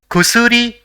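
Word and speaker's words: くすり: So it will be pronounced as kusuri, which means medicine.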